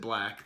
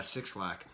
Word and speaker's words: 6lack: dad would call it he pronounces it black the number six for B but I'm such a